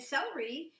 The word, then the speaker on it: celery: to show you that celery is spelled with a C, but C has 2 different kinds of sounds. It has a k sound like in cat, but it also sometimes can have an S sound.